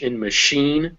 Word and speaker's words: machine: sometimes is different so if you ever see a word that is a english word that was borrowed from french then it will be pronounced with a sh this is why it's a machine which is a french